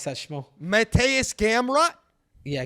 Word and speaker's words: Gamrot: guard uh what is it gunblock help me pronounce that schmo matthias gamrat yeah gamrot yeah maybe camera was is not the slickest